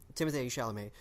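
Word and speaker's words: Timothée Chalamet: shall amaze performance is and that's how you say it by the way they rhyme Timothy sha'lame his performance is was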